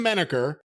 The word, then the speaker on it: Manacher: Sam Menaker, although it's spelled Manacher. That's actually the correct spelling.